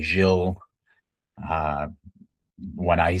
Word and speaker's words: Gilles: I've heard it every possible way to be pronounced. Now, what's the correct way? Uh, in English, people usually say jil.